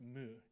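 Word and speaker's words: 無: on osu's tombstone is pronounced mu in japanese and means nothing or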